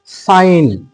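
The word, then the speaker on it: sign: পরে যদি এন থাকে জি এর পরে যদি এন থাকে তাহলে আমরা কিন্তু সেই এন এর উচ্চারণ করবো না যেমন ধর সাইন এ আই জি এন সাইন দেখো দন্তে স আকার হসয় দন্তন্য তাহলে এই সাইন কিন্তু এখানে জি এর কিন্তু উচ্চারণ আমরা পেলাম না এরপরে আমরা যদি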